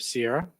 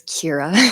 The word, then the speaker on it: Ciara: Next, we have Sierra. My mother made that nice and confusing for you. It's Kira. Kira is my name, and it's spelled Ciarabandars.